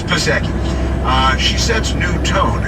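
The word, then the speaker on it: Psaki: of that gen passage yankee i know it's saki that's what saki's better i like pasaki better it's spelled passage that they're they're you know pneumonia uh honestly it's pisseki uh she sets new tone in biden's first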